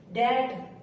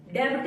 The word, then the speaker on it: debt: टी से पहले अगर बी आया तो साइलेंट होगा। जैसे डैट, DEBT, डैट। डेब्ट नहीं बोलेंगे इसको, डैट।